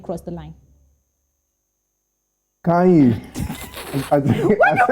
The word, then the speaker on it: Kanye: Kanye West has posted on his Instagram page screenshots